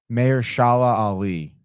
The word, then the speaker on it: Mahershala Ali: By the way, it's Mahershala Ali.